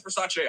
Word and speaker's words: Versace: at the versace versace so apparently it's versace i did not know but it's versace versace no i'm not wondering